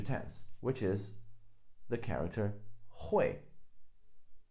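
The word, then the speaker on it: 会: which is the character hoy Hoy on a side note can also be pronounced as koi some characters have different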